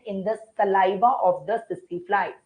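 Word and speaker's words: tsetse: The name of the bug is sissy fly. T is silent. Don't say tissy tissy. Say sissy fly.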